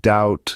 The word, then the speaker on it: doubt: making a sound you'll find silent bees in words like doubt subtle and thumb it's like a secret